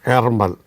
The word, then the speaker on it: Ärmel: Erger, a kind of A and E together. Erger or Ermel.